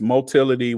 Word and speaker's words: motility: move in different ways motility which rhymes with Mobility is just how bacteria